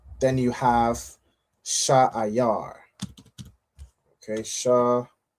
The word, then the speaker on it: Seir: All right, it's pronounced Sha'ayar.